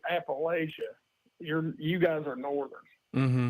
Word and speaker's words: Appalachia: Yes, Appalachia. That's how you say it.